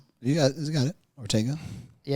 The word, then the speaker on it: Ortega: Ortega.